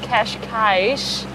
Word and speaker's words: Cascais: Which we just learned yesterday, the day before we left, that it's pronounced Cascais. With an esh at the end. Yeah, not Cascais.